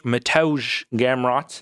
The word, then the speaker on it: Mateusz Gamrot: Mateusz Mateusz Gamrot.